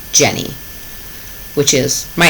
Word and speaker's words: Jennie: The first part is the Turkish spelling of my name in English, which would be pronounced Jennie, which is my name.